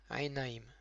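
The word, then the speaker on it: עיניים: Au pluriel, aïnaïm, aïn avec un tséré, un yud qui accompagne le tséré yud, nun avec un patar, donc na, yud avec un hérik, yi, et un même final.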